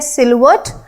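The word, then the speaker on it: silhouette: देखो इसकी प्रोनाउंसिएशन होती है सिल्वर्ट।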